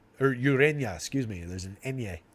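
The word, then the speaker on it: Ureña: lineup Jose Urena or Urena excuse me there's an Enya on his uh there's a tilde on the end in India as they call it that's when you pronounce it like a y Jake swell says yes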